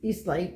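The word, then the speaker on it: Aestlight: I think we pronounce it Eastlight, Yeah. but A-E-S-T. it starts with an A.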